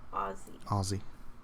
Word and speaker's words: Aussie: Americans always pronounce the S in Aussie wrong. It's pronounced Z. Oh, Aussie.